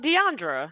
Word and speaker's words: Diandra: furniture Tech and now I have with me Deandra and I didn't actually ask you how to pronounce her name so Deandra did I get anywhere close um Deandra so yes you were right in the ballpark